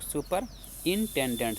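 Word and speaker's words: superintendent: ये लिखा है सुपरिटेंडेंट। इसको पढ़ेंगे हम लोग सुपर इंटेंडेंट से। देखिए यहां पे सुपर इंटेंडेंट।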